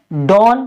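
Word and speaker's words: done: डी ओ एन ई, इसको हम क्या पढ़ेंगे, डॉन, डॉन नहीं पढ़ेंगे, इसको पढ़ेंगे डन।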